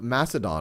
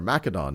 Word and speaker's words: Macedon: And as we will see in the next century, in the 4th century, we have Philip of Macedon, or Macedon, depending on how you want to pronounce it, who's able to use that vulnerable.